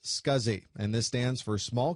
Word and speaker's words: SCSI: able to use it the abbreviation SCSI is pronounced scuzzy and this stands for small computer systems interface